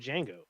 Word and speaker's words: Django: so crazy little fact he's been married three times he has one son his son is named django with a d but the d is silent oh